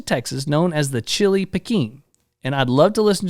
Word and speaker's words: Pekin: Pekin. I still don't think that's how it's said. It may not be. I don't Peckin'. know. Pekin? Like pecan.